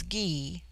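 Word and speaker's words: Gy: the singular with man the word for woman is ghee pronounced hard as in gai it forms itself into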